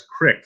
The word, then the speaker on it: creek: But here in Western Pennsylvania, we pronounce creek as crick, so I can't really talk.